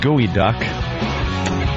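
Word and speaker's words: geoduck: and Anthony uh pronounced gooey duck species of large a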